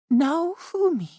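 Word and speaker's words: Naofumi: Mister Naumi. Her pronunciation was impressive.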